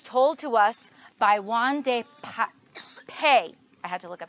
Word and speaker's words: Won-Ldy Paye: This one is a story from Africa, from Liberia, and it's told to us by Won-Ldy Paye. I had to look up how to say his name. Won-Ldy Paye.